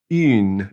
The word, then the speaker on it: une: And the other way is une, and since it has an E, now we pronounce that in une.